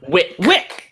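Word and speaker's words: Wicke: Wick. Wick. Because it rhymes with thick.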